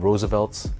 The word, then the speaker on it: RSVLTS: whatsoever but there's a company called Roosevelts it's spelled rsvlts and basically they sell